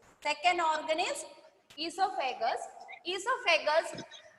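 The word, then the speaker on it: oesophagus: Second organ is esophagus. Second organ is esophagus. Esophagus, the spelling is O-E-S-O, but we pronounce E. O is silent.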